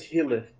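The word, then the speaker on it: Hillef: His name is Hilith. How do you spell that?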